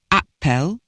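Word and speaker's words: æppel: English have apples an Appel pronounced the same in Old English as in Modern English was an apple or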